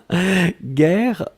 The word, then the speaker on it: guerre: Guerre, on écrit effectivement G-U-E-R-R-E. Donc vous avez le double R, donc qui ouvre la prononciation du E, et donc c'est la raison pour laquelle vous prononcez guerre.